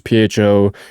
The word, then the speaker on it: pho: It's PHO. It's like pho low.